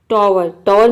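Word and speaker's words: tower: तो आप देख रहे हैं कि इन सभी वर्ड में OW के बाद ई आ रहा है, ई आ रहा है। वोवेल कितने होते हैं, वोवेल 5 होते हैं, AEIOU। तो इन 5 वोवेल में से कोई भी वोवेल अगर OW के बाद आ जाता है तो OW को आपको औ प्रोनाउंस करना है।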